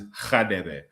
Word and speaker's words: Khadebe: It is Khadebe, pronounced with a slight G.